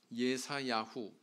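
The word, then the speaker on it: ישעיהו: 분류가 되는 이사야서가 되겠습니다 이사야서의 제목은 예사 야후 히브리인들 발음으로는 이렇게 한다는 거죠 이사야의 이름에서 기원을 하고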